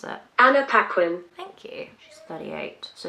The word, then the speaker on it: Paquin: once flees lions please banquo will be anna pupquin i don't know if that's how you pronounce it anna paquin thank you she's 38.